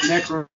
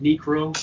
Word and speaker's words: Necro: Okay, that song is by, I pronounced it Necro before, but it's actually pronounced Necro.